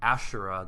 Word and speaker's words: Asherah: connection with with Annunaki I've seen Ashera Asherah that's how I was taught to pronounce Asherah I've seen after she's